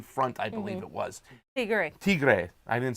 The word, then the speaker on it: Tigray: Tigray. I didn't say that. I said Tigris.